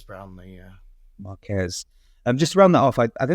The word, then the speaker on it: Marques: Just to close off the sort of Marques, I think I was pronouncing his name wrong. Heard Ben correct me. Marques Brownlee, yeah. Marques.